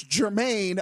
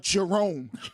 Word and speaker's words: Germaine: Well, it's Germaine, not Jerome.